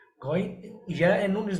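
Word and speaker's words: غين: Ghain is also heavy. अब आप बोलेंगे ghain, इसमें तो हमारा लिप्स का स्ट्रक्चर वो नहीं हुआ। You have to just focus the starting point of sound. How did you pronounce ghain? Gha, gha. When you will say gha, so your lips is making the round shape.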